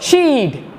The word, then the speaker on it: she'd: She'd. The correct pronunciation, the correct way of speaking, she would is she'd.